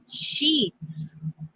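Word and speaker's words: Sheetz: Oh, The name of the gas station, it was a trucker's gas station, was called it's gonna sound like a cuss word, but it's not. It's called Sheets.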